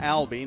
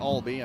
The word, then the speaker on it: Ali: a third and short it's Ali not Alby I have even written a pronouncer on my sheet so apologize to brillan